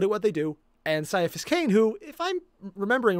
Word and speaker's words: Ciaphas Cain: Ciaphas Cain, hero. Oh, is it Ciaphas Cain? Oh, I've been saying his name wrong this entire time.